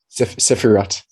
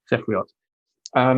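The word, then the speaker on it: ספירות: How do you pronounce it again? The Sefirot. Sefirot. Sefirot.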